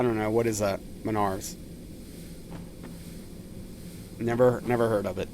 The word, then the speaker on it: Menards: Is it I would say Menards, but how how is it? I don't know. What is that? Menards.